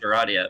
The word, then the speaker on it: Aradia: pronounced Aradia because James was like, "Fuck that," which is based.